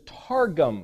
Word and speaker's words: targum: It's that same word, but if you know how to pronunciate this, is targum.